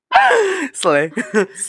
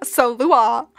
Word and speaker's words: Sluagh: Slay. Sluagh. You're saying it wrong. Sluagh.